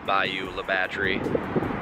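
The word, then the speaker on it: Bayou La Batre: Supply if it is Bayou La Batterie, but I think it is. How do you pronounce this town? Mobile? No. Bayou La Batterie. Yeah, I was right.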